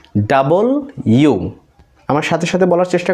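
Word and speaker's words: W: বের হয়ে যাবে ভি এটাকে আমরা বিভিন্নভাবে উচ্চারণ করছি ডবলিউ ডবলিউ বাট এটা আজকে থেকে এইভাবে উচ্চারণ করব না এটাকে বলব ডাবল ইউ আমার সাথে সাথে বলার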